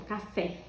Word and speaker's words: café: Por exemplo, café. O fé é tônico, então ela se classifica como oxítona.